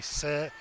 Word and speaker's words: Sades: Said, it's pronounced said, like he said, she said.